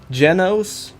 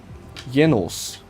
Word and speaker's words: Genos: Because I'm German, I could pronounce it two ways. I could say, in American, Genos, but in German, I could say Jenos.